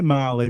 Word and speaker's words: Mali: So I say Marley, but it's spelled like the country, MALI Fair enough.